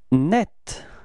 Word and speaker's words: nette: Net, repeat, net, okay? And it's quite interesting because the feminine form is written in a different way, but it's pronounced the same way, so it's net, repeat, net, okay?